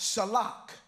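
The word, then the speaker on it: שָׁלַח: scent so in the Hebrew Hebrew word sentence pronounced shellac uh and there's many forms to this word sent or shalak but so sent means sin we all know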